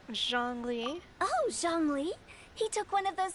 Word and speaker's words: Zhongli: Oh, Zhongli.